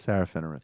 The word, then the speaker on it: Serafinowicz: hope uh Safar W what you can you pronounce his name for me please Peter sarowitz sarowitz right sarahh finwiz and he's very funny guy and there was